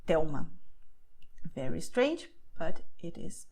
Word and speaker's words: Telma: It sounds very strange, but the fact is that you're going to pronounce a consonant as if it were a vowel, which is why you say Miguel Thelma.